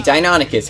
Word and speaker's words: Deinonychus: cycle charger which obviously is based off the Deinonychus yes I said it right over here you have the animation number 11 and the Deinonychus head over here yeah the dine on it